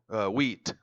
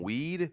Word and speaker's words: wheat: Wheat. I tend to not pronounce. You will say, "Are you saying weed? Weed?" No, wheat.